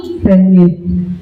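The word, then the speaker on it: Gagné: Bacanya bukan Ganya ya, tapi Ganya.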